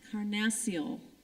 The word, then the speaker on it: carnassial: being approached player judge I was told I mispronounced it Karn Maciel thank you for catching